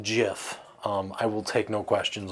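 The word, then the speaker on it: GIF: want to go try to it it is pronounced jiff i will take no questions on that the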